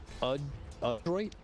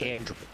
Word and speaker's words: Adroit: It's Adroit. Not Android. Adroit.